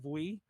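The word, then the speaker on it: ブイ: By the way, I also love the way V is pronounced in Japanese, usually when it's by itself, because I guess you don't say the letter V. It's like Vui.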